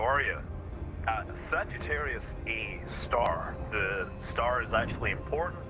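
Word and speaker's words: Sagittarius A*: Sagittarius A-star, because the star represents the fact that it's a very high energy radio source. The star is, you're supposed to pronounce it, just so you know.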